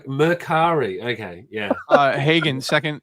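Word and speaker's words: Mercari: the stream is devolving into men shopping it's merari okay yeah uh Hagen second second to last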